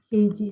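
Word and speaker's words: 平氏: Tapi kalau sendiri kan bacanya Taira, ya. Heiji.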